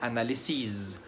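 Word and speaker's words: analyses: ونفس الموضوع مع الكلمتين اللي جايين، كلمة analysis يعني تحليل، جمعها analysis. يبقى لما بنيجي نجمع بنطول ما بين الاس والحرف الاخير.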